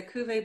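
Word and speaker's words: cuvée: vineyards i love their how do you say is it cuvee it's a cuvee blanc it's like c-u-v-e-e right i'm horrible when it comes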